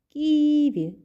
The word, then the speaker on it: ківі: молод наступне слово ківі ківі де ми наголошуємо правильно наголос падає на першому складі рибко Ми ж не